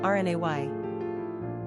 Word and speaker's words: René: Pronunciation, Renay.